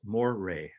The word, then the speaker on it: moire: those lines are called moire m-o-i-r-e french pronounced moray okay and moire is